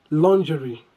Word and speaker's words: lingerie: We need to follow the same pattern for pronouncing genre. We pronounce this by saying lingerie, lingerie. Or if you like, you could say lingerie, lingerie.